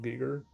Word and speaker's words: Giger: kept saying Giger, maybe the German way of saying it or Austrian or something, but I've been saying Geer too long.